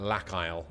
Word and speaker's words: Lack Isle: And I'm going to pronounce that Lack Isle, as in, you know, Isle like island.